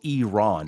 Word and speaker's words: Iran: Iran or Iran is is actually it's it's the spelling is incorrect. The spelling should be E R O N. So Iran.